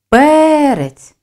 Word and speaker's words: перець: рець запишемо два склади визначимо наголос перець збільшую силу голосу ми виділяємо перший склад наголос падає на голосний е слові шість букв проаналізуємо